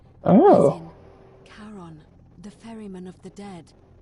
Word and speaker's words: Charon: Only your pronunciation is a little off. The name you heard wasn't Karen. It was C-H-A-R-O-N. Oh. As in Charon, the ferryman of the dead.